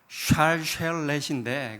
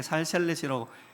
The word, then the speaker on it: 샬셀렛: 저기, 저기 동그라미 천, 저게 살셀렛입니다. 정확한 발음으로는 샬셀렛인데 그게 SH 발음이에요. 샬셀렛인데 그냥 편하게 살셀렛이라고 했습니다.